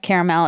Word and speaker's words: caramel: The southern pronunciation of caramel is typically caramel, which is a threecllable pronunciation. This is in contrast to two syllable pronunciation. Caramel, which is more common in the West and Midwest.